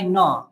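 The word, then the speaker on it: know: अब ये इस प्रकार से ऐसा नहीं कि आई नो, ये नो का मतलब नहीं होता, ये डब्ल्यू लगा दिया, नो मतलब ये नो, डब्ल्यू मतलब ये साइलेंट शब्द रहता है डब्ल्यू, तो इस प्रकार से आई नो।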